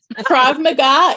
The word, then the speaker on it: Krav Maga: even spell that and how you say it Krav Maga it's Hebrew uh it's the Israeli self-defense